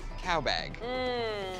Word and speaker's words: cowbag: It rhymes with sow and hag.